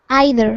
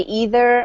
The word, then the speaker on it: either: Is Either. Either. Well, it depends. It just depends on your accent. You can say either or either.